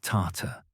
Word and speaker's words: Tartar: Yet European writers increasingly spelled and pronounced the term as Tarta, consciously or unconsciously, invoking Tartarus, the Greek conception of hell, the abyss beneath Hades, where the wicked suffered eternal punishment.